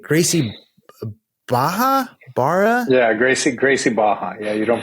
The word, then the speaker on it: Gracie Barra: Baja bar yeah Gracie Gracie Baja yeah you don't pronounce gra Baja nick castiglia uh owner of uh Gracie Baja even though it's spelled with RS in there uh Ottawa barad and